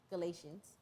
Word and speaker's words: Galatians: Galatians. Okay, I was about to say pronounce the T, like how you pronounce it in Artesia.